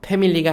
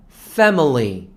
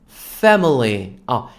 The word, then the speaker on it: family: 죄송합니다 family가 돼요 자 영어식 발음으로 한번 따라해 볼까요 패밀리가 아니라 family family 그냥 패밀리가 가족 이것만